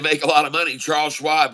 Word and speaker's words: Charles Schwab: Charles Schwab rhymes with Rob.